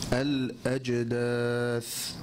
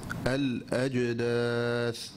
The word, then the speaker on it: الأجداث: رجز، رجز، إخراج، إخراج، ليجزي، ليجزي، الأجداث، الأجداث. الأولى خاطئة. So the first one is incorrect. Each of the first ones are incorrect and each of the second ones are correct.